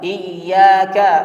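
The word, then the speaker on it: إِيَّاكَ: Kalau misalnya di dalam Al-Fatihah itu ada tasydid, maka ditasydidkan. Contohnya iyyaka atau ar-rahmanir rahim, jangan dibaca ar-rahmanir rahim, jangan kurang tasydidnya.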